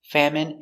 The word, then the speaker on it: famine: Example, medicine, margarine, intestine, genuine, famine, and jasmine. Let's take a closer look. Our first example, medicine.